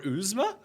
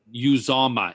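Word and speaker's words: Uzomah: Would you play him over Uzma? Uzama is how you say his name. Uzma? Every week you say it wrong.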